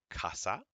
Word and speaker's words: casa: so here we go C A goes Ka as in Casa CE goes SE as